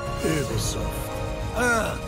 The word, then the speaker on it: Ubisoft: It is actually pronounced Ubisoft. The French.